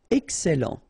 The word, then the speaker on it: excellent: Excellent. Remember, double L and E before, it will open the E.